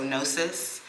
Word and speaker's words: gnosis: I think the G is silent, so GNOSIS.